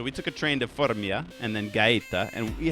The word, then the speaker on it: Formia: trip to Gaeta and Fermio. How do you pronounce that other name, Marco? Fornia. Fornia and Gaeta, which are these... With yam. Formia. Yes. Yes, so we took a train to Formia and then Gaeta, and